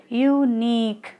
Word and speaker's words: unique: First is u second is nick and you know their stress falls on the second syllable that is nick. That's why we say like unique.